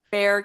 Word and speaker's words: Bexar: with Indivisible and the Bexar County Democrat Party. Is that correct? Fair County, but close enough. Yeah. It's a weird pronunciation.